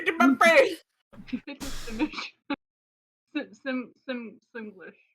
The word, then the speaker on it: Simlish: my face Sim Sim simlish how do you pronounce it simlish you had it that was correct the first time here we go now